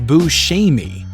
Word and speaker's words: Buscemi: Sicily that he noticed Italians were saying it more like Boucher me that's another way to say it the actor told